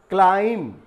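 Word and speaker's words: climb: क्लाइम, चढ़ना, पेड़ पर चढ़ना, छत पर चढ़ना, क्लाइम, तो यहाँ बी को साइलेंट किया गया है।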